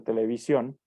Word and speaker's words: televisión: la ciclo tónica porque la va a pronunciar televisión nos damos cuenta que es cyan la sílaba tónica porque es lo que pronunciamos con una mayor intensidad pero aún así podemos